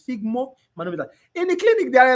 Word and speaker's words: sphygmomanometer: I call it sphygno. I always put N here. So, but the right pronunciation is sphygmomanometer.